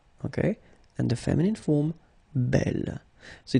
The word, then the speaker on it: bel: masculine form will be belle. Okay, and the feminine form belle. So it's actually quite interesting because these two forms, so the second masculine form and the feminine form, are phonetically the same.